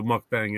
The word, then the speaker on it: mukbang: is definitely not considered what a mukbang is it rhymes with Mustang really well yeah yours is more